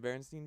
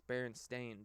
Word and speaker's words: Berenstain: don't know about the Berenstein bears yeah yeah bears a lot of people remember it as being the Berenstein bears right yeah but it's actually spelled with a it's berenstain bears oh yeah yeah but